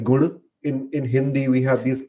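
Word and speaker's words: गुण: So I'll have to search because I cannot remember, but it's like, so we don't say gun. Gun is more the English version, but the actual way I learned it was guna.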